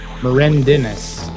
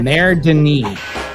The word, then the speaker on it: Mère Denis: Mère Denis is how you pronounce it.